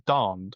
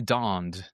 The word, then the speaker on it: Dand: says darned, but that's not right. Okay, donned. That sounds a lot more British, right?